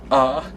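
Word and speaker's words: あ: is ah which is pronounced like ah and it's uh got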